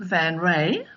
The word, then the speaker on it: Van Raay: hi there Martha but I pronounce my name van ray like you know that yeah that Karla Van ray that's how i pronounced my name is ok we oh